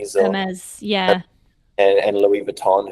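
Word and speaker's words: Hermès: I haven't really seen much about crocodile farming and skinning them for, you know, like uh, how do you pronounce them? Hermes Hermes Hermes.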